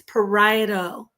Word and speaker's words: parieto: It's not parieto, it's parieto.